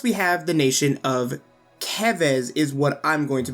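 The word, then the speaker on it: Keves: have the nation of kevez is what i'm going to be calling it as that aligns more with the japanese pronunciation based on the spelling of that so kevis is a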